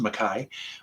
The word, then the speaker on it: McKay: heard of nelly makai it looks like mckay but it's actually pronounced makai with her first album